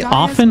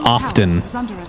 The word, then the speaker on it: often: it triggers me but I don't like when you pronounce the T cuz it's supposed to be silent I think both are